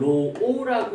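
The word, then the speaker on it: ρ: 접해 보이는데 별건 아니고 얘를 로라고 읽고요 얘를 비저항이라고 읽습니다 그다음에는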